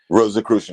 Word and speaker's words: Rosicrucian: Rosicrucian, yeah.